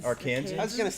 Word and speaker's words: Arkansans: for lack of the how do you say that, Arkansonians? We'll call 'em Arkansans? Arkansans.